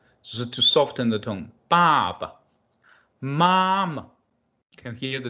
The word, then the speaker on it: 爸爸: The second one is normally pronounced in the neutral way. So to soften the tone, Baba, Mama.